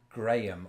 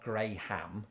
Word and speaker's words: Graham: decidedly in my pronunciation Graham not gray ham Graham Graham or one vowel yeah when you do